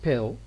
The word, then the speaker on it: pedal: In this word pedal, we have got two syllables. We have got ped and lo.